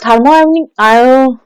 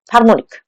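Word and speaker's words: thermionic: ফর থার্মোআয়নিক থার্মোনিক থার্মোআয়নিক না, থার্মোনিক হবে এটা, থার্মিওনিক বানানটা কি হয়েছে, না ঠিকই আছে, থার্মিওনিক এমিশন, ঠিক আছে।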